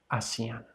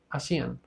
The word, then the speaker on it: hacían: Cuidado, esto es hacían, porque el sonido de la H al inicio de una oración es mudo. Realmente no escuchas el sonido del H, no es hacían, no, es simplemente hacían.